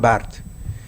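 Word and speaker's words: Barthes: maltratado dice rolán bard Roland Bart perdón esa es la pronunciación correcta No es bartes se escribe bartes pero se pronuncia Roland Bart en la derecha dice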